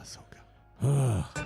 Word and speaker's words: Ahsoka: but yeah okay Ahsoka stop saying it wrong Ahsoka hoping for the best doesn't dreams come true